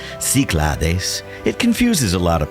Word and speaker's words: Cyclades: tinos nestled in the north end of the kiklares the pronunciation in greek clares in english it's siclades it confuses a lot of people but here